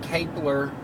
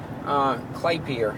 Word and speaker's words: Klapper: And then I turn around and I hear Kurt Kapler Klappler, I'll say it right in a minute. Klapper, that's it, how you say it.